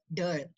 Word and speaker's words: Dhal: Referring to that, Dhal concludes, I quote, he is a Orison scholar, so the proper pronunciation I am told is Dhal.